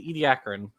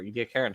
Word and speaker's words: Ediacaran: So at the end of the last episode, so what we ended on was the Ediacaran, or Ediacaran, however you want to pronounce it, the Garden of